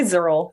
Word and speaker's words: ZRL: Like namely on like, I don't know, do you pronounce that ZRL? Oh, we say Zurl.